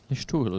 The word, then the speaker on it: Listowel: Or Listowel. Listowel, yeah. Outstanding pronunciation there from...